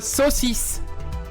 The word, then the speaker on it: saucisse: Well, here we call it a saucisse.